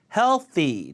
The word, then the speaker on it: healthy: 까다로운 SC 무서운 영화 healthy 자 th 바르니까 혀 잘 넣고 잘하세요 healthy healthy unhealthy 하면